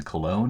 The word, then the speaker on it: cologne: And then cologne I think is supposed to rhyme with alone.